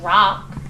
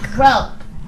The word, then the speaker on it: broke: You didn't say brock. You knew that it had a long O because you saw the silent E at the end. What's the word? Broke the window.